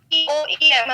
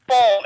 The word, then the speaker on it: poem: हैं, the word is the correct pronunciation of this word is poem, it's not poem, ठीक है।